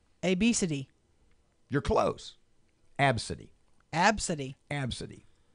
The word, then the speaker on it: Abcde: the employee noticed the young passengers unique name pronounced AB City the gate agents started mocking my child's name